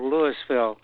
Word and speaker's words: Louisville: while it was a french settlement that called lewisville spelled like louisville only uh pronounce they pronounce the yes lewisville is a suburb of canton about eight miles